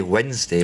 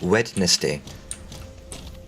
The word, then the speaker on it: Wednesday: week W right well it's how you spell it it's a weird one we say Wednesday but it's wedness day yeah that one yeah